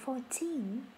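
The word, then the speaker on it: fourteen: Từ này hoàn toàn khác với từ 14.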